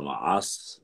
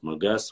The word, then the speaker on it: Магас: Уничтожая вот так, они дошли до Центрального Кавказа, и где ставка его была, считается, где столица Маас, называется Маас, некоторые говорят Магас, вот это название по-разному.